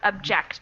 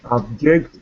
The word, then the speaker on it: object: I think first is object and the second is object. I don't know if it's correct. Yeah, yeah, I think you're right. So, is it the pronunciation or the stress? Is it like the vowel sounds or the stress that changes?